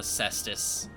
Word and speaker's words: cestus: But it's more fun with a cestus. And yes, that is how you pronounce it. I checked.